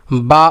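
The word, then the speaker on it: ب: বা উচ্চারণ হবে দুই ঠোঁটের ভিজা অংশ থেকে বাটা উচ্চারণ হবে। যেমন কি বা বা, ঠোঁট আবার চাপ দেওয়া যাবে না, বেশি চাপ দেওয়া যাবে না, যে কি বা বা।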